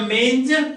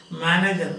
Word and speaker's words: manger: The manger cradled infant got below. The manger cradled infant God below. God below. Manger cradled infant God below. When I say, sometimes I have heard people pronouncing this as manager.